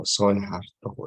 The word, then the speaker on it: Soeharto: Terus Soekarno, Soeharto, itu kan oe itu dibacanya u, tapi ditulisnya oe.